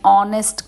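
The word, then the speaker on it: honest: को यूज़ करते हैं एन is also used before the word beginning with silent H एन को हम साइलेंट एच के साथ भी यूज करते हैं example an hour an ऑनेस्ट girl an honour आप देखेंगे कि इसमें भी ऑ की ही साउंड आ रही है वाल साउंड आ रही है दैट्ची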